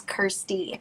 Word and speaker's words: Kirstie: social media platforms under kirsty krauss and it's kirsty like you pronounce it like thirsty but um yeah just